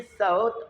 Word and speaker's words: صوت: इसमें सौत, सूत नहीं पढ़ना, वो धागे का नाम है और सीन से होता है। तलफ़्फ़ुज़ दुरुस्त कर लें, यह है सौत। स्वाद के ऊपर ज़बर है, वह पर जज़्म है, इसमें सौत।